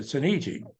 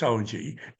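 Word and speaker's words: Soneji: And I said, well, I pronounce it Sonegi. So, of course, in the movie, it's Sonji.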